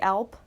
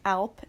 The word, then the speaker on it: Alp: The German Alp, A-L-P. I think that's how you pronounce it, right? Like the Alps.